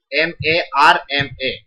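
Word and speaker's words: मर्म: you shouldn't say oh you shouldn't pronounce all with raw right only half okay like this is murmur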